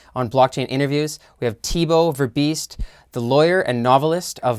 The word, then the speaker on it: Thibault Verbiest: network and today on blockchain interviews we have tebow ver beast the lawyer and novelist of multiple books welcome